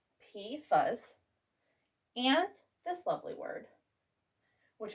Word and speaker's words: PFAS: besides hexavalent chromium well we've got pifas pronounced p fuzz and this lovely word